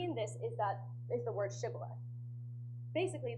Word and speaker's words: shibboleth: Basically, the Gileadites had the sound sh in their language, so the sh they could pronounce. However, the Ephraimites could not pronounce it. They would pronounce sh with an s sound, like sa.